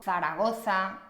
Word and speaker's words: Zaragoza: La Z se pronuncia exactamente igual que la C en español, ¿vale? Recuerda, za, ce, ci, zo, zu. Siempre. Zoo, Zaragoza, Zarzal.